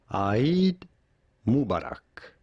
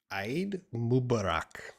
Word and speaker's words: Eid Mubarak: checking the pronunciation we are looking at how to pronounce how to say aid mubarak aid mubarak so you used this